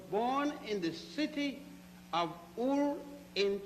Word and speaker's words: Ur: Abraham was born in the city of Ur in Chaldea. It is spelled U-R, Ur, and Chaldea is spelled C-H-A-L-D-E-A.